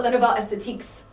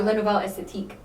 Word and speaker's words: Les Nouvelles Esthétiques: lunchroom, and we're like, in French, like, there's a lot of words that have S at the end of it, but you don't necessarily like say Pronounce it, yeah. S. Yeah, so it's like it's not Les Nouvelles Esthétiques, right? You just do Les Nouvelles Esthétiques, kind of like ending Stop with it the at E.